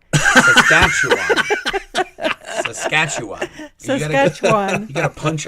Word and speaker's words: Saskatchewan: So my understanding now is it's Saskatchewan, but for old time's sake, I'm sticking with Saskatchewan. Saskatchewan.